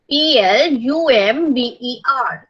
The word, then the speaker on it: plumber: PLUMBER. इसमें B silent है, लेकिन आपको स्पेलिंग्स लिखते टाइम इसका ध्यान रखना है.